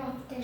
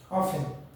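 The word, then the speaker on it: often: আমরা কোনদিন অফটেন বলি, অফটেন টি এর উচ্চারণ হয়, তাহলে ওখানেও ডি এর উচ্চারণ হয়। আমাদের গ্রামের নাম অফটেন বলে। না, ভুল বলে, অফেন।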